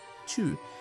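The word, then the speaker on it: Chew: US who have been called Chu and it's spelled like that. C H E W Chu.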